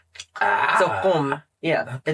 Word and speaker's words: Qom: So it's Qom. It's not too far off, because the qaf is a qa. So Qom.